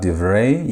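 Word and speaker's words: דִּבְרֵי: So you have divrei Yahweh. What has happened? The plural ending has changed from im into sereyod. And the second consonant, the second syllable, has reduced from kametz into shua.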